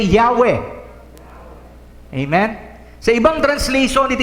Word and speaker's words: Yahweh: Pero kung babasahin mo yon, alisin mo yung vowels, that is Yahweh. Everybody say Yahweh.